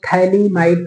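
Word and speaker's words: phthalimide: थैली माड रिएक्शन इसमें टी हमने स्मल लिखा है क्योंकि प साइलेंट रहता है थैली माइड रिएक्शन या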